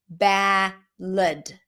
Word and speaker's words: ballad: But in American English, people usually drop it to a schwa. Ballad. When the I sound, spelled with A, is unstressed, it's usually pronounced as the schwa.